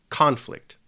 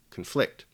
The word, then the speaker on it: conflict: In the word conflict, the stress falls over the second syllable. The second syllable is the syllable that we emphasize when we pronounce the word, conflict.